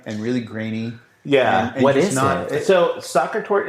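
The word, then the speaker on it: Sacher: I got to go get my soccer tour.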